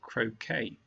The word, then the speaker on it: croquet: to forward to reward and your pronunciation is okay when you correctly say croquet rounded wounded grieve and